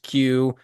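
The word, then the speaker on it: queue: Yeah, there's 4 silent letters after the initial letter Q, which is pronounced Q, but they just added an extra 4 letters.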